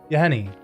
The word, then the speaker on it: Yahenni: I cannot pronounce it that very well. Trigger Edgar. That's Another vampire. Yawgmoth, right? Not Yawgmoth, Yahenni.